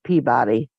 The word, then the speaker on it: Peabody: same streets man and I like how it's pey and it's spelled just like Peabody yeah not peab it's